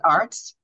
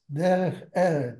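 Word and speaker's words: דרך ארץ: You pronounce it Arts? No, Eretz. Derech Eretz.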